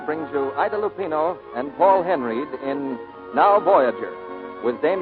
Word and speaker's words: Henreid: in many a day he pronounces his name Paul Henry he and Idol Lupino